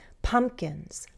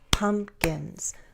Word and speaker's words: pumpkins: Pumpkins. Pumpkins. Bum, bum. You can also clap syllables. Pumpkins. pumpkins, the first one is stressed.